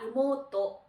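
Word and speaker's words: 妹: 그래서 손인누이자, 손아래 누이매는 여동생인데 여동생은 이모토라고 발음을 합니다. 이모토.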